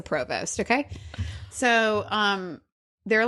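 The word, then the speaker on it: Prevost: tour bus is but I know you probably pronounce it something differently like previous or like Provost day or something but it's a Provost okay so um they're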